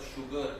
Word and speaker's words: sugar: do you know that the word sugar is the only word in which SU is pronounced as shu?